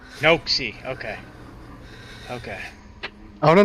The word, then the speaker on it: Noakesy: Noakesy. Noakesy.